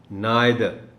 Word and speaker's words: neither: अब इसमें दो बातें हैं. एक तो ये कि इसका स्ट्रेस जो है प्राइमरी वो N पर है, और दूसरा आई साउंड नहीं होगा बल्कि I sound होगा. So the correct pronunciation of this word is neither.